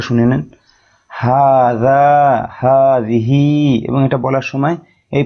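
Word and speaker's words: هذه: হাতে ইশারা করে দেখেন এখানে লেখা আছে ভালোভাবে উচ্চারণটা শুনে নেন হাজা হাজিহি এবং এটা বলার সময় এই পর্যন্ত বলার সময়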